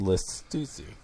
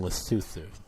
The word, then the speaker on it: Lesotho: In Lesotho.